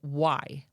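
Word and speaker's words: wye: The trail itself, from an aerial view, appears to be a literal rail Y. A Y is where a train could turn around. That is spelled W-Y-E, in case you're wondering.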